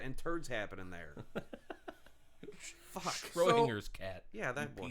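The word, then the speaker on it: Schrödinger: That's Schroeder's cat and turds happening there. Fuck. Schrodinger's cat.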